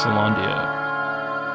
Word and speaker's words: Caelondia: Caelondia. That's how you pronounce it.